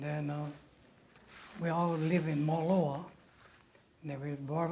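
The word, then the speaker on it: Moloaa: I was born in Moloa, North Shore in Kauai. Could you spell it?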